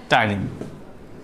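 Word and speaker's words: ptyalin: The main contents are first है mucin, उसके बाद lysozyme, then after thiocyanate, and last में आएगा टाइलिन जो कि एक एंजाइम है. यहाँ पर पी साइलेंट है.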